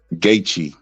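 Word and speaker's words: Gaethje: dominating facts he said he does he said gaii oh that's how it's pronounced I don't know nothing about it bro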